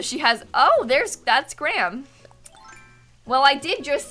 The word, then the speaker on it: Graham: Thank you very much, Graham. That was not Raymond. Americans say Graham, Minnie. I know that, like, Dan from the UK says Graham. Graham. And I think that's stupid.